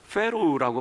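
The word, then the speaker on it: Pharaoh: 영어로는 우리가 페로우라고 발음하는데요, 이 바로가 본래의 뜻은 큰 집이라는 뜻을 가지고 있습니다.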